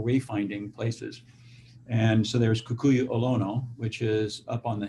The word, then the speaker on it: Kukui'ula: I mean, I have to say, listening to you, your property, you pronounce it Kukui'ula, or how do you pronounce it? Kukui'ula.